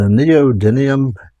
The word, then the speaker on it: neodymium: you the moves for all three phases the neodymium that's how you pronounce it magnets come in various shapes and